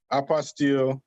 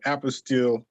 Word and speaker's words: apostille: pronounce it okay so i hear two different ways it's a apostil for apostille it's a french word that means certification okay and what you're